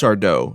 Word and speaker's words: Sardo: Or rather, as I should say, it's just Sardo. No mister and accent on the dough.